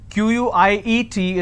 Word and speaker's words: quiet: some quiet means silence q-u-i-e-t is pronounced at quiet quite means q-u-i-t-e so